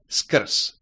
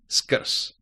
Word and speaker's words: skrz: Another word, slightly longer, skrz, skrz. Sk, sk, sk. Skr, skr, skrz, skrz. Again, z is pronounced s because the consonant is losing its voice at the end of the word.